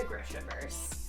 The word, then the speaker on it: Grishaverse: And books that fit the vibe of like the Grishaverse. Grishaverse, I don't freaking know. I'm hosting the read-along and I still don't know how to say it.